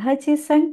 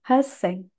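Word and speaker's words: 八千: Bukan Hajiseng, tapi Haseng.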